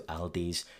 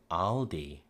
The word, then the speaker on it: Aldi: So when they're saying Aldi, again, that's not a great imitation of the way that they pronounce it, but they're using their palm vowel. It's the vowel from father, spa, lager. That's just how it sounds in their accent.